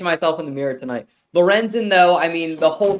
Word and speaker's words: Lorenzen: really bad Tom it's going to be horrible Lorenzen did I say it right yes yes it's